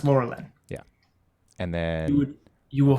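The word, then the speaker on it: Lorelen: Laura Len okay great but it's pronounced Laura Lynn yeah and then you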